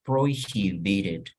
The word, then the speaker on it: prohibited: These are prohibited, fíjense cómo se pronuncia, prohibited, prohibition, prohibición, prohibition, prohibited items, airport.